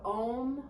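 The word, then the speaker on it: Aum: seal our practice will chant the sound of ohm one time you're welcome to just listen or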